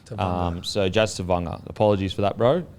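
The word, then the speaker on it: Tevaga: So Tavanga. So Te dash Vung VUN dash R Tavanga. So Jazz Tavanga.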